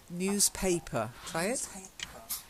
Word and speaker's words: newspaper: the next one newspaper you've got to get that a sound otherwise it sounds like pepper newspaper newspaper that's it I